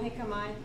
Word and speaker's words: jicama: She doesn't know jicama. I don't think she knows jicama, so it's pretty Mexican thing. Yeah, it's a J. You don't say the J.